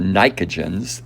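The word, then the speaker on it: pnictogens: trivia knowledge, a nitrogen's column is called the nicogens. It's spelled P-N-I-C-O-G-E-N-S, but I won't ask you that.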